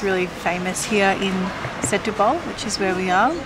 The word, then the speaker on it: Setúbal: Hey guys, so update, we've made it to Setúbal. Is that how you pronounce it? Pretty close. Setúbal.